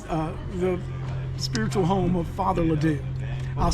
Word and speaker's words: Ledoux: here, this was the spiritual home of Father Ledoux. I'll spell it for you, L-E-D-O-U-X, and Father Ledoux was a master storyteller.